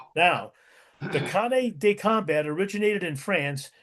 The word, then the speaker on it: canne: Well, the pronunciation, I believe in French is canne. Or the English equivalent is cane, which is kind of a walking stick that is de- designed specifically for fighting.